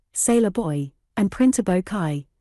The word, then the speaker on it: Chi: Kai Plumber, Boilermaker, Sailor Boy, and Printer Bo Kai, pronounced Shy, by the way, is the argo for Chicago.